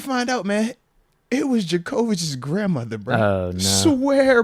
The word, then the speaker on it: Djokovic: She's like, Djokovic. Oh, my. So that's how you pronounce it.